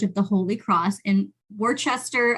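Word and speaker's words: Worcester: the Holy Cross in Worchester I almost I almost wanted to pronounce it wor Wester m Cho sorry everybody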